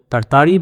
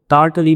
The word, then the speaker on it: Tartary: एंड बाय द वे इस लफ्ज़ की प्रोनाउंसिएशन तरतारी भी है, तारतली भी है, ततारी भी है, और आप इसमें से कोई भी सिलेक्ट कर सकते हैं depending on हाउ प्रेटेंशियस यू आर।